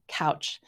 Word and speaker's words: Kautsch: It's kind of different, but hers is simply pronounced couch.